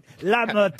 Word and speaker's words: Lamotte: on dit pas Martin Lémotte, enfin, Oui, Stevie. oui, je me suis trompé. Pardon. Lamotte. Lamotte. Voilà.